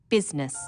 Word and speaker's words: business: u g words business people don't pronounce the I business sometimes misspellings occur because